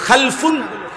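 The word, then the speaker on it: خلْف: ভাষা আরবিতে একটা হল খালফুন আরেকটা হল খালাফুন একই শব্দ শুধু উচ্চারণের মধ্যে একটু ভিন্নতা মাঝখানে একটা লাম আছে এই লামটার মধ্যে যদি সাকিন হয় তাইলে হলো খালফুন আর যদি লামের মধ্যে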